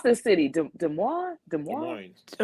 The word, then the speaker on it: Des Moines: this city Des Moines Des Moines it's it's like l-o-i-n Des Moines loin Des Moines Iowa